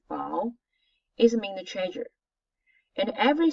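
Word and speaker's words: 宝: This word, we say bao, we pronounce bao, it means treasure.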